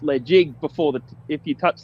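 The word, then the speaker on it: Ledaig: touched if you touch the led jig it's pronounced legit before the if you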